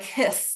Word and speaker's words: His: I know it's written H-I-S like his, but he pronounced his name like hiss, like a snake hisses.